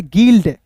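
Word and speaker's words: guild: डी तो इसे पढ़ेंगे गिल्ड जी यू आई तो यहां पे देखिए जी का ग और यू यहां पे साइलेंट होगा आई का ई हो जाएगा एल डी क्या हो जाएगा गिल्ड हो गया जी यू आई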